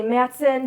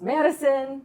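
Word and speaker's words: Matteson: up in I say Matson because otherwise people think I'm talking about Wisconsin but it's actually pronounced Madison m a t t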